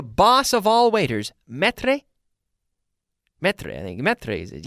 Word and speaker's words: maître: Maître, I think. Maître is it. Yes, it's right. I'm always concerned about my pronunciation of that particular word, maître.